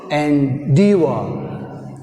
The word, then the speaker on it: endeavor: Like this, another example, endeavor, endeavor, endeavor, endeavor, endeavor. In endeavor word, endeavor is second word, endeavor is second syllable. That's why we have stress on endeavor, d.